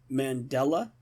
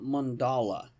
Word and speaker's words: Mandela: And by the way, it is Mandela, not mandala.